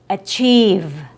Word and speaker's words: achieve: Next is achieve. Achieve, not achieve. Achieve. That's also too short. And you're also messing up with your consonant before long e. I'm sorry, your consonant sound after long e. The v sound v. Achieve. Achieve. Not achieve. because it sounds like we have an F sound after E. Or is it a B sound?